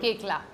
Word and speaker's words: Koechlin: And yes, that is how you pronounce her surname. Koechla.